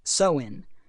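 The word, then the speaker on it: Samhain: the Celtic Festival of samhan pronounced soin celebrated over 2,000 years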